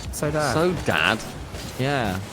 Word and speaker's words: Saudade: Dad they told us they told us how to say it it's so Dad all right so Dad so Dad yeah not